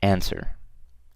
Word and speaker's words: answer: Okay, so you can see number 1 is answer, and I'm pretty sure you guys know how to spell that. So it's N and W. Answer. Okay, so that's what it was missing, a W, a silent W.